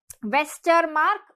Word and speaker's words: Westermarck: Westermarck, read it as vascular mark.